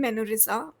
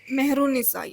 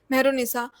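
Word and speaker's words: Mehrunnisa: and Salim, from the perspective of this woman, Menorisa. How do you pronounce it? Mehrunisa, yeah, Mehrunisa.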